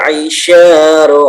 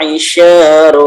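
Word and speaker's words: العِشَارُ: Nah, itu ada beberapa huruf yang agak berat ya diucapkan seperti ain itu ya. A ya. A. Kalau yang belum terbiasa mungkin agak dipaksakan ya, tidak apa-apa, nanti juga bisa dilembutkan lagi ainnya.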